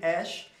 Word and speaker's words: Æ: Esse símbolozinho aí de A com E, que a gente pronuncia com som de ash, é a ortografia élfica, né?